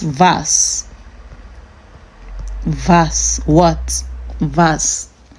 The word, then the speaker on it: was: And the W is pronounced V, like V.